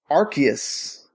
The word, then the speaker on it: Arceus: is happening it's called Pokemon Legends archus the C sounds like a k uh so they showed